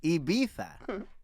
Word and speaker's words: Ibiza: like why did i what did you say ibaitha abita no but not the the first how you pronounced it before i beat that it's not iv it's ibiza ibiza it's all original it's also ibiza well